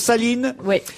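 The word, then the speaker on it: Sahlin: effet madame mon saline on prononce saline donc nouvelle présidente du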